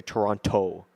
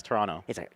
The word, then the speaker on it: Toronto: what did they say they say toronto toronto they they enunciated the t the second tee and it's just like what's not yeah it's toronto i'm kevin it was